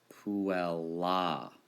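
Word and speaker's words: puellā: Puella, with a long A.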